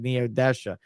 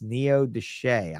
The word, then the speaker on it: Neodesha: say it again and I said Neodesha and she said it's Neo Deshay I'm from there yeah